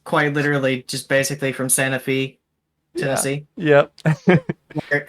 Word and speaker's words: Santa Fe: So Um, my character is quite literally just basically from Santa Fe, Tennessee, Yep. where everybody pronounces it the wrong way. It's, Santa Fe.